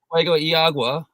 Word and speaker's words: Fuego y Agua: So you've had some DNFs at Badwater, CCC, Fuego y Agua. If I just probably butchered that pronunciation. No, you said it right. Fuego y Agua.